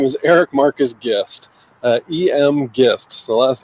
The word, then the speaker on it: Gist: So my full name is Eric Marcus Gist, E.M. Gist. So the last name is pronounced Gist, not Gist or Geist or Geist or any of that stuff. I definitely call it Geist.